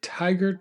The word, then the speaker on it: Tygart: In the Hollows to the Tigert Valley. I think I'm pronouncing that correctly.